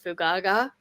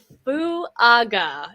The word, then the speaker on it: Fuaga: State offensive tackle Talisa Fugaga. That's not how you say that. Damn it's Talisa Fuaga is how you say that. I need to say it slowly. Everyone say it with me.